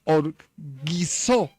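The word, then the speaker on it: ὀργίζω: La palabra airados, sin duda alguna, viene del griego que se pronuncia orguizó.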